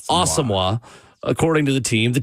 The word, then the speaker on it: Asamoah: It is pronounced Asamoah, according to the team.